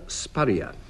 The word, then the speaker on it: spurrier: Anne Scott James, what is a spurrier? Well, he's someone who rhymes with a furrier.